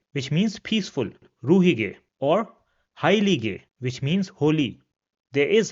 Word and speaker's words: heilige: vowel, then it is pronounced as it is pronounced in English. For example, ruhige, which means peaceful, ruhige, or heilige, which means holy.